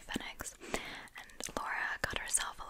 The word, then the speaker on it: Fenwick: we went into um Fenix is what they they call it up in the Northeast it's spelled like Fenwick but I hear the British people say fex and Laura got herself